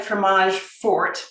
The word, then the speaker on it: fromage fort: got and i know it looks like fromage fort but the tea is is silent and this is a